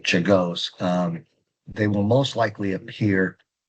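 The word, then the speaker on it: Czolgosz: William McKinley and Leon Czagos, that's how you pronounce his last name, Czagos, they will most likely appear on your next test.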